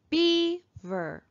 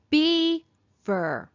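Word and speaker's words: beaver: here's our first word be ver be fur where do we hear the accent be ver be fur we hear it in the first syllable here's another word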